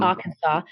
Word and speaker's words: Arkansas: So Arkansas is spelt Arkansas, but it's really Arkansas.